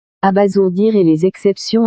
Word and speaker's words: abasourdir: Pourquoi n'a-t-on pas lu abasourdir? C'est parce que la règle dit que S placé entre deux voyelles se prononce ZE.